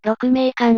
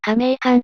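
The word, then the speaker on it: 鹿鳴館: He mispronounced Yukio Mishima's play "Rokumeikan" as "Kameikan" and mistook "Salesman no ◯" for "Salesman no Uta."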